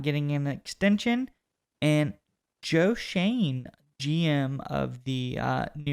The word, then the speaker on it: Schoen: reportedly is not getting an extension and joe shane gm of the uh new york giants yes that is how you say his name is shane we checked uh but he has said everybody